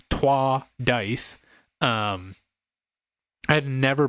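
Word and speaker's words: Troyes: next we played uh Troy's dice or if you want to be uh real about how you say it is twah Dice um I had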